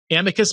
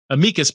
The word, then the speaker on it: amicus: She's written several books in this area and she recently uh submitted in amicus brief no amikas brief is apparently the the correct pronunciation regarding some laws surrounding sexual orientation change efforts in the state of Colorado.